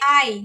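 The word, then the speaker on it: 아이: A palavra criança tem duas, então vai ser a i.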